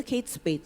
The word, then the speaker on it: Kate Spade: bukan dombet dari Amerika menurut dia yang betul pasti bacanya kate Spay dan itu Bul memang bacanya Kate Spade Saya cuman ngegodain dia